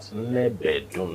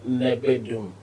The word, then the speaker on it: Nnebedum: The syllables are high, not Nnebedum. No. Nnebedum. High.